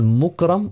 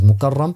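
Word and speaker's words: مكرم: you'll find that there's a person called Mukram, or you know, some have pronounced his name as Mukarram, but Mukram is how it has been written in the Tarikh Baghdad print.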